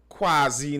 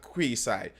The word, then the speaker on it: quasi: best option they have quasi not queasy thank you j christmas